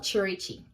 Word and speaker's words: Cherichi: Uh, you're welcome to my channel and u my name is Cherry. So, I'm sure by now most of you figured out how to pronounce my name. Yeah, it's called Cherichi and this is everyday life with Cherichi.